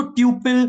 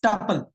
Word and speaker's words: tuple: कोई इसको ट्यूपल ट्यूपल मत बोलना, थोड़ा सेंसिटिव हूं मैं इस चीज को लेकर। इट्स टपल, that's it, no other pronunciation. कोई अगर कोई टीचर भी अगर इसको बोल रहा है, ट्राई to correct them, it's टपल, right.